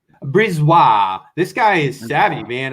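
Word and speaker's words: BriseBois: chicago blackhawks and pooh bear can you uh pronounce the gm again julian julian brisbois brizwa this guy is savvy man i was a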